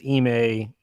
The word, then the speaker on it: Ime: I think it's Ime.